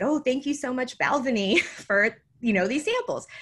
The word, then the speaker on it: Balvenie: So I did an Instagram story and I said, oh, thank you so much, Balvenie, for, you know, these samples. And by the way, it is spelled like the way it looks.